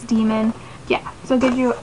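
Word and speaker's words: daimon: say them so like demon is spelled d-a-i-m-o-n which i always say damon and i feel like i'm always going to but it's demon yeah so it gives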